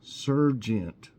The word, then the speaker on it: sergeant: So, it's spelled S-E-R-G-E-A-N-T. That's like sergeant. But everybody says sergeant. So anyway, it's sergeant.